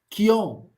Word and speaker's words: Keoghan: But what are you gonna say about Barry Keoghan? Yeah, that's his that's how you pronounce his last name.